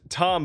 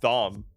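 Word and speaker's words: Thom: Zanna Pilgrim what's up my name is pronounced Tom by the way the H is a hold over for my more pretentious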